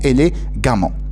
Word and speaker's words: élégamment: Donc, cet adverbe-là se termine par E, deuxième ENT, qu'on prononce différemment, élégamment. Donc, ça finit avec un A, deuxième ENT, donc on le prononce automatiquement élégamment.